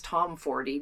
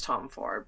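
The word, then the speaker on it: Tomforde: Now I recently watched a video that it's Liz Tom 40, not Liz Tom Ford, but so uh however you pronounce her last name.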